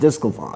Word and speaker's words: DeSclafani: the same game this week, we had Anthony DeSclafani. Right. And Jay Bruce. Yep. Playing in the same game. That's right. Well, it's DeSclafani. It's D-E-S, right? It's D-E-S, but it's pronounced the same thing. It's pronounced DeSclafani.